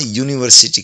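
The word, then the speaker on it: university: ए यूनिवर्सिटी यहां यूनिवर्सिटी की आवाज आती है। यू यू जो कसोनेंट साउंड है। हिंदी में व्यंजन की आवाज है। इसलिए ए यूनिवर्सिटी कहेंगे।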